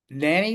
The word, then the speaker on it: Nanny: have up is Nanny am I pronouncing your last name right yep that's right like the babysitter buts about it love it so yeah I'm Nanny I'm just like coko